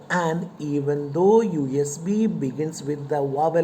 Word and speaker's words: USB: at the word usb usb begins with the letter u which is a vowel but when you pronounce it the first sound that you get to hear is yeah or you it is usb not um this usb since ya is a consonant yeah is a consonant